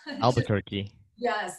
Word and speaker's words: Albuquerque: Albuquerque. Yes. Thank you for helping me pronounce that.